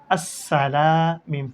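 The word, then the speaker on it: السلام: এরপর আসি হামজা সিন জবর আস, সিন জবর সাহ, আসাহ। লাম আলিফ জবর লা, আসসালা। মিম ফেশমু, আসসালামু।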